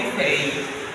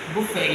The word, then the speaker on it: buffet: Next one, say buffet. Buffet. You don't say buffet, you simply say buffet.